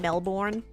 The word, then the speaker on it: Melbourne: of Americans will pronounce Melbourne like Melbourne Melbourne but it's actually kind of Silent the r in it is kind of silent so it's just melbour